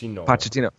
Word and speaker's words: Pochettino: Pochettino.